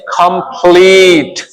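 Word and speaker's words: complete: उच्चारण ही नहीं करते उदाहरण के तौर पर सी ओ एम पी एल ई टी ई तो इसको हम पढ़ेंगे कंप्लीट इस ई को तो हम बोल ही नहीं रहे इसका तो साउंड ही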